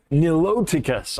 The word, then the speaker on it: niloticus: nicotine crocodile like what is that oh n niloticus all right well anyway will you have any